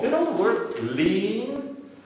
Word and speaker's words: lien: You know the word lien? Lien is a legal claim against property to possibly satisfy an unsatisfied debt. It's pronounced as lien.